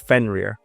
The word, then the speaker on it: Fenrir: It was a fen fener is how you pronounce the actual Yeah. Yeah. Yeah. Yeah. Yeah. I think I said Free or something like that. It's Fenrirer.